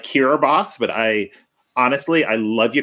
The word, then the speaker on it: Kiribati: I don't even think I could say Kiribati, so there's that. It is spelled nothing like how it sounds. Nothing.